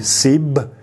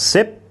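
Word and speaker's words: สิบ: So when they tell you the Thai word for 10, they will say sib and not sip.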